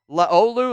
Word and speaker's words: Laulu: Jonnu Laulu, did I pronounce it right? Laolu, that's it.